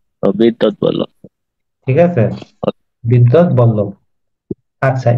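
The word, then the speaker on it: বিদ্বদ্বল্লভ: উচ্চারণটা কঠিন স্যার এটার উচ্চারণ আমি ক্লাসে বলছিলাম বিদবল্লভ না এটার উচ্চারণ হবে বিদ্যৎ বল্লভ বিদ্যৎ বল্লভ ঠিক আছে বিদ্যৎ বল্লভ আচ্ছা এই শ্রীকৃষ্ণ কীর্তনকে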